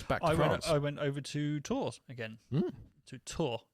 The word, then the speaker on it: Tours: I went over to tours again to tour not tours you don't pronounce the S I wouldn't know yeah